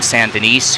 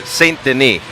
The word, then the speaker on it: Saint Denis: on the other side Justin Sant Denise who you've seen 77 wearing the blue oh it's French Saint Denis well if I tried